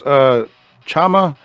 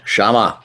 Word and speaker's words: Chama: So 13th album, Max Chama. Is that the right pronunciation? Perfect. Chama.